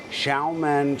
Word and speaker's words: Xiamen: I am in Xiamen, China. It's spelled Xiaman.